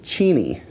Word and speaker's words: Cheney: that the members of the Cheney family actually pronounce their name Cheney, which I'd never heard before, and I'm shocked, and they certainly don't go out of their way to correct people.